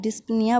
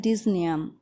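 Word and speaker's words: dyspnea: डिस्निया कई students का pronunciation गलत होता है, डिस्निया बोलते हैं, लेकिन इसको हम प्रोनाउंस करते हैं डिस्निया।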